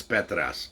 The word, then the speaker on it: Petras: insists on calling him he's greek it's petras anyway spencer petrus uh